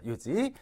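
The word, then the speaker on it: 四時: 네시 할 때 이거 지라고 안 하잖아요 지죠 요지 그리고 사일 하게 되면 가죠 요가 요기다 금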